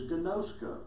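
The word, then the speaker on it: γινώσκω: my disciples if you love one another is gnosko. And that's how it's pronounced in the Greek.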